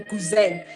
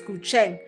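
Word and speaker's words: 古筝: It's pronounced guzheng, but it's spelled with a Z, guzheng. Hence I say guzheng, so that, because we know with the Chinese letters, X is C, it's pronounced as Sia, and ZH is pronounced as Che, I think. Hence say it's Gucheng, something like that.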